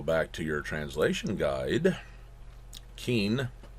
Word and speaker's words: Qin: to your translation guide Qin because q is ch and if you throw an